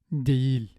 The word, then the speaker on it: değil: And it's either silent or pronounced ye with the front vowels that precede it, as in iğne and değil.